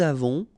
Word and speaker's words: avons: j'ai, tu as, il a, elle a, nous avons, vous avez, ils ont, elles ont. Okay, so j'ai, tu as, final S not pronounced, il a, elle a, nous avons, final